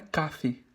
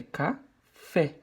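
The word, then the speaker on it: café: não para dar não não é cafe é cá fé ok igual a cabeça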